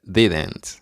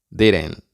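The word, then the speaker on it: didn't: siguiente palabra se pronuncia dident dident pero en inglés hablado más informal decimos diren diren la siguiente palabra se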